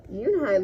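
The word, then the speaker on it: Unhei: Yoonhai looked quickly at Mr. Kim, then turned to Joey. She nodded slowly. "Yes, it's pronounced Yoonhai, and it means grace," Mr.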